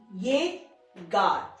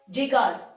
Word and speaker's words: llegar: कोई भी alphabet silent नहीं होता है स्पेनिश में, जैसे कि मैंने आपको बताया LL लिखा है, इसका प्रोनाउंसिएशन या य या ज, ये गा।